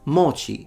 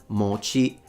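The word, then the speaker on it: もち: But it's the opposite, at least in standard Japanese, it's pronounced mochi, mochi ga. It's a heiban pattern, so one of those low to high pitches in Japanese, but he doesn't know that.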